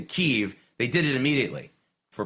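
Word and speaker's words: Kyiv: AP to change the the spelling and the pronunciation of Kiev which is the more Russian way of doing it to keev they did it immediately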